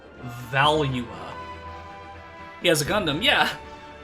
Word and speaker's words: Valua: throughout the years, so I pronounced it Valua, but apparently the proper pronunciation is Valua.